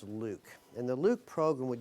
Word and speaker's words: LIWC: Inquiry and Word Count, LIWC, which we pronounce Luke.